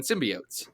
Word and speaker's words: symbiotes: no one cares because the Spider-Man animated series and literally every pronunciation of that word ever has been symbiotes.